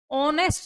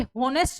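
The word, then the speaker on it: honest: दिया गया है ऑनेस्ट, ऑनेस्ट ये होनेस्ट नहीं है, ये ऑनेस्ट है। एच जो वर्ड है इसके अंदर साइलेंट है, इस बात को आप लोगों ने याद रखना है।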